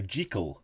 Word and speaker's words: Jekyll: Jekyll and Mr. Hyde. However, Stevenson pronounced Jekyll to rhyme with treacle, and he wanted the title to sound like a newspaper headline, so he never used a the.